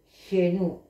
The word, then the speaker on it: shen: Se escribe S-H-E-N-O, Shenu, S-H-E-N-U, con forma de anillo anudado.